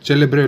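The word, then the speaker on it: celebre: यदि सी के बाद ई या आई उपयोग हो रहा हो तो सी को च पढ़ा जाता है। ये फॉर एग्जाम्पल हो गया चेंतो, चीबो, चिपोला, चेलेब्रे, बहुत सारे हैं।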